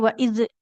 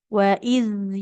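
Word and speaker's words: وَإِذْ: Nah, hati-hati dalam pengucapan zal sukun. Jangan memantul. Enggak boleh waid ya. Tidak waaiz. Waidz yarfa'u. Nah, huruf dalnya pastikan mengalir dengan sempurna.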